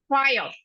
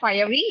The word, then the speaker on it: fire: read and the third one is fire that is it is not fiery it is fire so